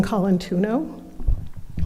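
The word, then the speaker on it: Colantuono: Okay, you're going to have to pronounce it. Yes, I will. My name is Colantuno.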